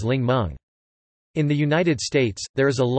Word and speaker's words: 檸檬: For example, the Mandarin word Ningmen, simplified Chinese, Ningmen traditional Chinese, Ningmen meaning lemon, came from Cantonese, in which the characters are pronounced as Lingmeng.